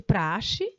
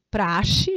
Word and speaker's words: praxe: Quando a professora Marilza Carvalho decidiu se aposentar, Redigiu como de praxe. Praxe, gente, a pronúncia é praxe, não é prax, tá bom?